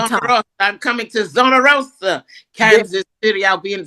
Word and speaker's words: Zona Rosa: It's Zona Rosa, but I like to say Zona Rosa and roll the tongue. Rosa. I'm coming to Zona Rosa, Kansas City.